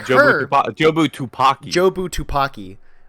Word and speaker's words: Jobu Tupaki: his perspective is in such like it counteracts Jobu Tabaki or whatever. Is that Yeah. how you say it? Yeah. Because like her Jobu Tupaki.